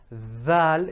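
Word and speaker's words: ذال: Okay, Thal, Thal, right? Now that is how Thal is pronounced. There's more tongue coming a bit more out, and it's being pressed between the upper and bottom incisors.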